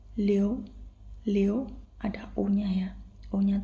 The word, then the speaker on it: liu: Tetapi kalau kalian sadari ini kita bacanya bukan Liu tetapi Leo.